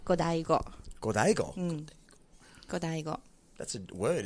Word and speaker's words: Godiego: Godiego. Well, it's actually pronounced Godaigo.